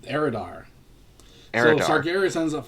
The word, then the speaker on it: Eridar: Am I pronouncing that Yep, right? Eridar.